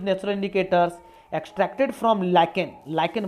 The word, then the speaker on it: lichen: लाइकेन बोलते हैं इसको, लीचेन नो, सॉरी लीचेन नहीं, लाइकेन।